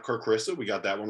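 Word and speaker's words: Kerr Kriisa: And it's Kerr Krisa, not Kerr Krisa.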